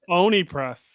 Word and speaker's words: Oni Press: Oni Press. I said it right? Oni Press, yes.